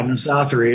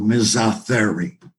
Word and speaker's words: misothery: It comes from two Greek words. The first syllable, miso, as in misogyny, which is contempt for women. And therio is the Greek root word for animal, Therio. So misothery.